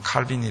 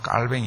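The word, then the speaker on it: Calvin: 괴로움 할빈 이라고 그렇게 우리가 영어로는 칼빈이 라고 하고 원래 이제 발음은 깔 뱅 인데 여기 칼빈이 사진을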